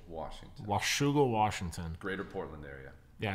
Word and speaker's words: Washougal: there was not scholar did how do you pronounce the city here man this is Washougal Washougal Washington Greater Portland area yeah it's actually a